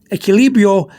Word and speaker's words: equilibrio: Equilibrio, if you see the Q-U-I in Spanish, the Q-U-I, that's pronounced like a key. K-E-Y in English, like you find a key for the door, key, K-E-Y. So the Q-U-I in Spanish gets the key sound.